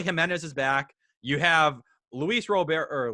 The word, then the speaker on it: Luis Robert: is back you have luis robert or luis robert coming back i always say real beer because that's the way he talked about how it's supposed to be pronounced um but he's gonna